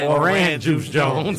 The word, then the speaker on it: Oran Juice Jones: His name was Oran. Oran Juice Jones. Yeah, Yeah, exactly. you got to say it like that, like a Tribe Called Yeah.